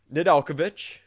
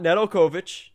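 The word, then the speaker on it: Nedeljković: to pronounce it correctly so nidalkovich not nedelkovich nidalkovich uh he is the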